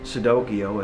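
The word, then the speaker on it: Cicidokio: children's fairy tales like sudokiyo as opposed to pinocchio and instead of and not it's spelt c-i-c-i-d-o-k-i-o even though it's pronounced like with an s but it's actually with the c and it's it's like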